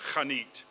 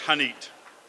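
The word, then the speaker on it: חנית: I think it's actually pronounced Hanit, but I can't do the ch, so it's Hanit.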